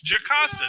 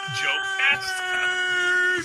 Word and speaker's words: Jocasta: It's Jocasta, not Jocasta. It's not like there's not a. They're all made up words. All words are made up, but there are certain ways that you know how to pronounce a word. And if you were gonna have if you had the little apostrophe in it, then it would be Jocasta. But it's Jocasta.